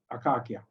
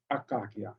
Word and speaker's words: akakia: in many plant names we have switched the k sound into a c a soft c sound okay but in fact it the original name was akakia and the ak uh